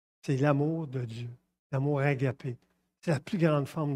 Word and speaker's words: agapé: Je l'ai mis en grec, agapao, mais on prononce agapé.